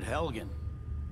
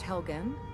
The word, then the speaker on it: Helgen: Survived Helgen? Yes. General Tullius told me what happened. Pronounced Helgen.